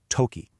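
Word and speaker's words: とき: And that word is toki, pronounced toki.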